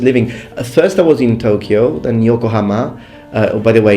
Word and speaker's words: Tokyo: By the way, in Japanese it's Tokyo, Yokohama, because people sometimes when I pronounce things in the English way, they're like, well, you say you know Japanese and you can't even pronounce it. I can, it's just that I'm speaking English.